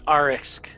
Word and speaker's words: Arxik: Her name is Arisk, and that's ARXIK. That does not sound like it's spelled.